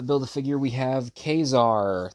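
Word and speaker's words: Ka-Zar: a figure we have kesar that's how I'm going to that's how I'm going to pronounce it if it's Kazar to you then just imagine me saying Kazar cuz I'm going to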